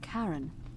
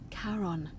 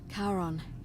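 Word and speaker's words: Charon: is a little off the name you heard wasn't karen it was c h a r o n as in caron the ferryman of the dead karon who in exchange for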